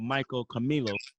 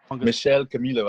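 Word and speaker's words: Michel Camilo: So we're gonna go ahead with the first song that, and this is by a pianist called Michael Camilo. Michelle Camilo, I have to pronounce it, but I could be wrong.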